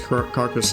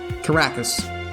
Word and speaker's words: Caracas: Or, I don't think it's Carcass. Hold on. Let me check. How do you pronounce this? Caracas.